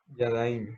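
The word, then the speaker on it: ידיים: Yadallín. ¿Será? No sé. Sí, Yadaín Yadaim. Muy o bien. Yadallín, no sé. Yo lo pronuncio como Yadaim. Yadaim.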